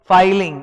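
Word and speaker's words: filing: देखो double L का मतलब होता है फिलिंग, सिंगल एल का मतलब होता है फाइलिंग। समझ लो मैं क्या बोल रहा हूं, pronunciation फाइलिंग, एफ आई एल आई एन जी, फाइलिंग, और डबल एल मतलब फिलिंग, तो वो फाइलिंग होना चाहिए, ये मैं पढ़ाऊंगा।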